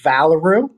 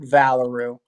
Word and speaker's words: Valoroo: yeah the name is valaru so just kind of like just how you say kangaroo but valaroo and then so yeah